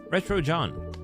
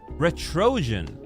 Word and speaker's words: Retrojan: Retro John. The pronunciation is quite odd. Ah, is it that Trojan from Trojan horse? Oh, that's how it's pronounced. Ret. Retro Trojan.